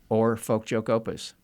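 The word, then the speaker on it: Oar Folkjokeopus: please, in your own words, how do you pronounce the name of this store? Or Folk Joke Opus.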